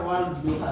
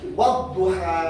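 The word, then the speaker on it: والضحى: Berarti harusnya wal duha itu. Wadduha.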